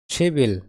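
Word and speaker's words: 십일: 10 তারিখ কি হবে শিবিল 10 মানে কি শিপ তারিখ মানে ইল উচ্চারণ কি হবে শিবিল বিয়োগ ইয় অনস্থানে গিয়ে ক হবে শিবিল মানে 10 তারিখ ওকে তাহলে 11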